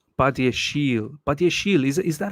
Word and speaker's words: Badiashile: Badiashile. Call him the bad man. Told you, Miz, we are getting Badiashile as Colwell's backup. Badiashile Chile. Badiashile. What? No way. It's French, so it's Badiashile.